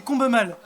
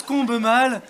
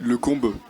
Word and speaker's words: Combemale: Et donc ça se prononce Combe-mal, tout se prononce. Après, je me retourne si vous dites Combe-mal, je me retournerai, je sais qu'on parle de moi. Ok. yeux. Si on dit le combe, Ah, ça non, par contre.